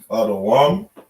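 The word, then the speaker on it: אדום: This is how we would pronounce it. Right? Adawam.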